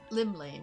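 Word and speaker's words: Llymlaen: Limlane, that's how you say it.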